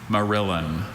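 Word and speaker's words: morillon: Marillin. Can you repeat the word again? Marillin.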